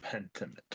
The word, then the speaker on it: Pentiment: Pentiment. Yes. Yee, That's yee, how you yee. pronounce it. Pentiment.